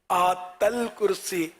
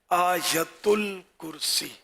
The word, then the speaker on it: آیت الکرسی: اچھا وہ ہے آیت الکرسی، آیت ال، اس میں لوگ اس کو بھی آیتل یا آیتل ہے نا، آیتل کرسی، آتل کرسی، یوں بھی لوگ بول دیتے ہیں. تو اصل تلفظ ہے آیت الکرسی.